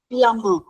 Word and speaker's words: plumber: You know, when M and B comes together, the B remains silent. So, we call it as a plumber.